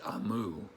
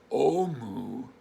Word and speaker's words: Omu: beginning it says note to the reader amu pronounced amu is the igbo term for queen so even though we would pronounce this omu they pronounce it so that's why you'll hear